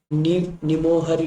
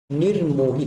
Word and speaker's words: निर्मोही: देखिए इसमें कैसा है, इस र की मात्रा को यहाँ होना चाहिए था, इसलिए गलत है। तो हमारा सही आंसर हो जाएगा निर्मोही। देखिए यहाँ पे ना र का उच्चारण पहले हो रहा है।